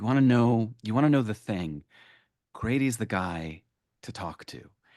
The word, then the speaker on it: Grady: question that I've always Pronouncing my name, Grady. Grady, Yeah, Grady. it's just Grady. Um I I have this kind of I imagine this kind of like life of you, of Grady Hendrix.